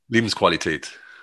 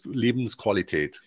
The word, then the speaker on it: Lebensqualität: Life is Leben, Qualität is quality. Yeah, Lebensqualität. It's like Farfignugen. Okay, perfect. Remember that? Farfignugen? Yes. Yes. Thank you. Thank you. I'm looking at it in the book and I'm like, I'm not going to be able to pronounce this. So yeah, it's a typo, unfortunately. There's a typo, unfortunately. There's an E on the end, unfortunately, but there's absolutely no E.